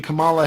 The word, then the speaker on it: Kamala: Kamala. It's like comma, like a comma.